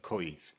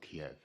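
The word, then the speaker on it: Kyiv: of people struggle with the ukrainian pronunciation of koiv that's not kiev imagine it just rhymes with the end ending of the word rhymes with leave as in putin leave ukraine kaith thank you assembly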